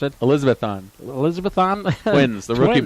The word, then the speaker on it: Elizabethton: Yeah, master's degree, a couple of years of studying, but he's also going to be the voice of the Elizabethan however you pronounce it. Elizabethton.